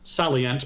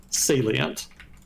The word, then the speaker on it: salient: I was mispronouncing salient. So, thanks to C whiskey. Um, I've been saying I've been pronouncing it uh salient my entire life. So, it's going to take a while for me to get used to uh salient, but I'll try.